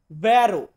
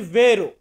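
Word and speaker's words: vero: গেলে আমরা ইতালিতে বলি ভ্যারো। ভ্যারো মানে হচ্ছে সত্য বা সত্যি, বা অনেকে আমরা এটাকে বলি ভেরো। ভেরো ভ্যারো একই, উচ্চারণে ডিফাইন করতে পারেন, বাট বানামে তো একই আসবে।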